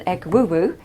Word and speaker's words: Egwugwu: And an Egwugwu is an impersonator of ancestral spirits. Now, I've been told that that's how you pronounce that word, but you spell it Egwukwu.